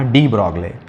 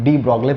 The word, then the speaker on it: de Broglie: डी ब्रॉगले, अभी जो डी ब्रॉगले थे, इंग्लिश में तो इसको डी ब्रॉगले प्रोनाउंस करते हैं, लेकिन हिंदी में तो डी ब्रॉगली होगा या डी ब्रॉगली।